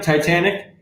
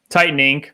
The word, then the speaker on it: Tytaninc: Am I saying it right? Titanic? Titan Inc., but close enough.